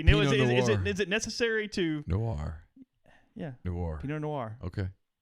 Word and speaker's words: Noir: No, it is a Pinot Noir. See, whoa. The correct pronunciation. See, Neil, is it necessary to Noir?